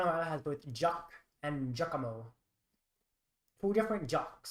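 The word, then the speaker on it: Giacomo: It's interesting how has both jock and jakamo. Two different jocks spelled completely differently. It's spelled jack or you spell jock j a cq.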